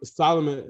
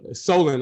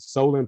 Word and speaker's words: Solon: assessment of them um solomon uh solon i gotta make sure i pronounce his name right solan page has done a great